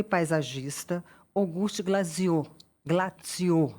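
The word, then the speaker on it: Glaziou: e paisagista Auguste Glaziô Glaziô me falaram que a pronúncia é assim E ele ele estudou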